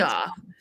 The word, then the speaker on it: Aof: It's actually, I say A off and that's incorrect. It's P It's off, but it's spelled AOF.